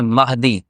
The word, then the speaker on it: مہدی: نے ہدایت عطا فرمائی۔ تو یہ مہدی لفظ یہ غلط ہے، لوگوں کو اس کا علم نہیں ہے، وہ اس کو غلط تلفظ کے ساتھ پڑھتے ہیں۔ لفظ کیا ہے اصل میں؟ مہدی، میم کے زبر کے ساتھ۔ اللہ جل جلالہ ہم